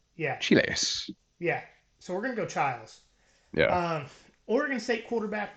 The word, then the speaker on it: Chiles: So we're gonna go Childs.